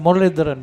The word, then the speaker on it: Muralidharan: Talking about the bowler's action, Paul, to me it looks like Muthai Muralidharan bowling. Yes. You know, we both said the same name. He just pronounced it correctly.